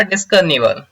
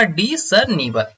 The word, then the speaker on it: discernible: इसका प्रोनाउंसिएशन थोड़ा सा ध्यान दीजिएगा, यहाँ पे ऑलरेडी लिखा हुआ है डिसर्निवल, यानी कि डिस एस जो है यहाँ पे थोड़ा सा हिडन है, यहाँ पे प्रोनाउंसिएशन होगा डिसर्निवल।